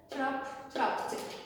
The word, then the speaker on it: trapped: The P is doubled and the ED is pronounced trapped.